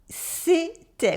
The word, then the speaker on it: c'était: C'était. We have an E sound and an E sound. C'était. The T is silent.